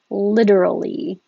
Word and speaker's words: literally: i didn't notice that till now all right starting with literally the t changes to a d literally and when we say